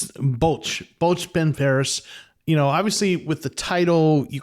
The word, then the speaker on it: Bwlch Barras: It's Bwlch Barras.